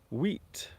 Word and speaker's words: wheat: Of course, some people might also pronounce the H. So they might say wheat, wheat. So they might blow as they pronounce the word wheat.